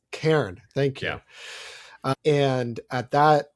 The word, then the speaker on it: Cairn: So he teaches a course at Kern University. I always mispronounce Cairn.